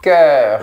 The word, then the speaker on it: cœur: C'est le son E. Cœur. C'est vraiment vertical comme son. C'est comme si tu prononçais care, mais de manière plus fermée, plus verticale.